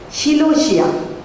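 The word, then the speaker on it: philautia: The fourth word is Philotia.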